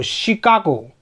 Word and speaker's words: Chicago: फिर है CHICAGO, शिकागो, America का एक शहर है शिकागो।